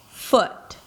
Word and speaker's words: foot: The first thing I can tell you is that these two sounds are different in length. Right? Okay, so it's not food and food, but one is definitely longer, double the length of a very neutral single vowel, food, and the other one is super short, super relaxed, foot, pool, pull.